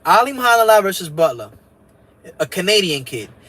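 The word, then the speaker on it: Alimkhanuly: Janibek Alim Hanala. I call him Alim Kanuli because that's how you spell it out. That's how you write it out, right? So Alim Kanuli, but they say Alim Hanala.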